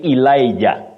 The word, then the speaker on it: Elijah: Ecclesiastes Ecclesiastes and finally Victor mandila you say Elijah Elijah we used to saying Elijah but that